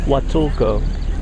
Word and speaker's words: Huatulco: How do you pronounce that? What? Huatuca? Huatulco. Huatuco.